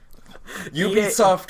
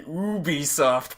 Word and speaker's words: Ubisoft: like, now starting the Ubisoft press conference. I'm like, wait, what? Oh, shoot, I've been saying that wrong all these years. They're a French company, so that's probably the French pronunciation of it.